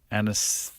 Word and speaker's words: anaesthetist: Oh, you were talking on yesterday's show about having to apologise to your anaesthetist. Oh, yeah. How do you say that word? Anaesthetist, yeah. I go hard on the second A.